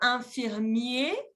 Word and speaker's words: infirmier: Y ahí se saca la E final y no se pronuncia la R. Au masculin, infirmier.